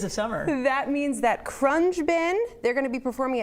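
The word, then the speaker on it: Khruangbin: go to YouTube because the spelling of the band and the pronunciation of the band are 2 different things. So Crunge Bin, could it be I'm pretty sure it's Crunge Bin.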